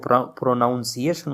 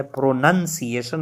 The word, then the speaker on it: pronunciation: काफ़ी दफ़ा सुनी है कि वो प्रोनाउंसिएशन उसे कहते हैं, अगरचे ये प्रोनाउंसिएशन नहीं है, नाउन की यहाँ पे कोई वो नहीं है, प्रोनंसिएशन है।